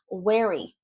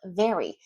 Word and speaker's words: wary: Wary, not very. So differentiating in your ear, and of course, redeveloping that muscle memory. When it's a W in English, it's a W sound.